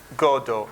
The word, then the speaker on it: Godot: play is waiting for godo and the T is silent waiting for silent T